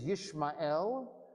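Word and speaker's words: ישמעאל: Again, you lose the pun in the English. His name is Yishmael, because Shama, heard or listened, a God, El.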